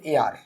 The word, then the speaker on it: heir: HEIR, এর প্রোনাউন্সিয়েশনটা হচ্ছে এআর। HEIR এর উচ্চারণটা আমাদের কি এআর, হেয়ার কিন্তু বলবো না, হেয়ার আমরা যেটা বলি সেটা হচ্ছে HAIR, এটা আমরা দিতে পারি।